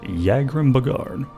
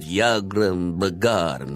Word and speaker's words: Yagrum Bagarn: basement and we meet Yagrim Bagarn. Now I know how to pronounce his name, because he has unused voice dialogue. Here, take a listen. A visitor. What brings you to visit Yagrim Bagarn, Master Crafter and last living dwarf?